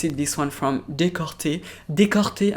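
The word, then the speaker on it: Decorté: Décorté, I'm going to say it like as if it is a French one, but it's not, it's a Japanese one.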